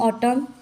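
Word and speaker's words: autumn: आए दोनों एम एन उसको बोलते हैं हम ऑटम डैम यहां पर भी एम और न साथ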